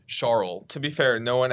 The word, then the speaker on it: Charles: He said Charles, like Charles, I think is how he pronounced it, and someone actually zoomed in on his little cheat sheet, and he spelled it SHAR-EL, which I get it.